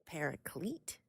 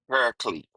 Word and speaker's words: Paraclete: P A R A C L E T E pariclete. Paraclete.